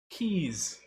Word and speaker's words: Keys: hey how's it going keith sorry if i mispronounced your name keys that's it keys nailed it my name is abu